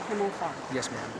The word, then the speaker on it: Himmelfarb: Himmelfarb, it's pronounced. Himmelfarb. Yes, ma'am.